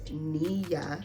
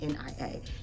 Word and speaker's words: Nia: my name is pronounced Nia like Nia Long just like if you would spell Mia Mia it's Nia ni a nothing will make me